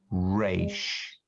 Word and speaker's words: resh: Rail, rame, resh.